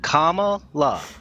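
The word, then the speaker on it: Kamala: I want everybody to read Comm La Comm La that's how you say her name wow or or future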